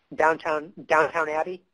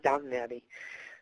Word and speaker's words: Downton Abbey: Sally's watching Downtown Abbey. Isn't that how you say it, Downtown Abbey? I'm pretty sure that's right. That's just a joke, everybody, I know it's Downton Abbey.